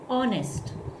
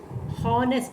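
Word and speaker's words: honest: இங்கே வந்து இந்த வேர்ட் பார்த்தீங்கன்னா இதில் ஹெச் வந்து சைலண்ட், ஹெச் வந்து நம்ம ப்ரொனவுன்ஸ் பண்ண மாட்டோம். ஹானெஸ்ட் அப்படின்னு சொல்லக்கூடாது, தப்பு. ஆனெஸ்ட் அப்படின்னு. நர்வஸ்.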